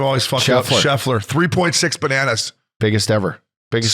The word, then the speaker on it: Scheffler: Scheffler.